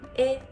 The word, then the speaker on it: へ: So when it is used as a particle, it is pronounced as e, e.